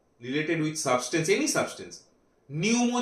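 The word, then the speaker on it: pneumo: with substance any substance न्यूमो जो term है पी एन ई यू एम ओ न्यूमो इसमें पी का जो है वो पी का प्रोनाउंसिएशन नहीं होता है दैट इज़ और इट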